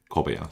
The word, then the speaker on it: Kobaya: It's all Bo Kobeya. Kobeya, sorry. Keep thinking it's Bo. Not Ba. I'm going to think of Kobayashi. That's the way that I can make sure I pronounce it correctly.